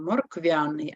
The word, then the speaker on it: морквяний: морквяний апостроф не треба Ми кажемо морквяний а не моркв'яний ллється замість апострофа потрібна